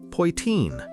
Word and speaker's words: Poitín: Pine, pronounced pine, named for the little copper pot pa used to make it.